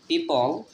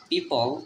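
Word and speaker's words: people: গাছপালা বাড়িঘর এবং মাঠ পিপল পিপল লাস্টে এর উচ্চারণটা হবে না পি ই ও এখানে ও এর উচ্চারণ হবে না পাশাপাশি দুইটা ভাওয়েল থাকলে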